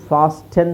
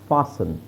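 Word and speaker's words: fasten: ಲಿಸನ್ ಲಿಸ್ಟನ್ ಅಲ್ಲ ಲಿಸನ್ ಇದು ಫಾಸ್ಟೆನ್ ಅಲ್ಲ ಫಾಸನ್ ಲಿಸನ್ ಫಾಸನ್ ಓಕೆ ಸೋ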